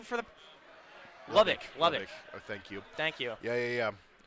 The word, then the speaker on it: Lubbock: Lobik. Lobik. Oh, I've been saying it wrong for the. Lubbock.